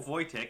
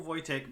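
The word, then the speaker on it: Wojtek: Tango Echo kilo however it is a Polish name and is pronounced voch now today's story is going to be slightly different as Corporal vyc is not a human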